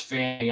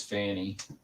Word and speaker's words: Fani: it's fonnie it it's I'm pretty sure it's Fanny I mostly hear her name pronounced as Fanny okay it could be